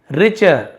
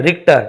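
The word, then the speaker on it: Richter: 15 minute के बाद professor रिचर sorry रिक्टर टी है।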